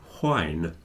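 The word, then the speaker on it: whine: also wine as well wine with an H in it oh okay w h i n e not w i n e because they sound exactly the same at least for English speakers if you go to Scotland they'll they'll say whne and you'll hear the H okay but in England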